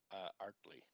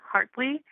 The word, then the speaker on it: Hartley: uh speaker number 60 uh art Lee sorry if I mispronounced it oh no don't worry um my name is Hartley uh good evening Mr